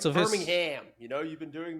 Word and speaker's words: Birmingham: Why do I keep pronouncing the H in Birmingham?